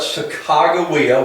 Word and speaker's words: Sacagawea: For example, can anybody here tell me what Sacagawea, which is the pronunciation that the Native Americans would prefer that you use nowadays, Sacagawea, what she contributed to the expedition?